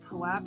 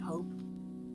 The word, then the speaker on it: POAP: I'm of the opinion that POAP is pronounced POAP and not Pope.